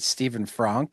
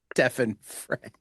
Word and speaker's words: Stefan Frank: I asked and I guessed, I said, "Is it Stephen Frank?" And he's like, "Actually, it's Stefan Frank."